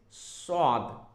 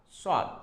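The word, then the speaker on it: صاد: Now coming to this one is swad, swad, Sad. There is no dot, and when there is dot, this is called nuqta in Arabic. So it's a zad, zad. So no dot, sad, zad, dot.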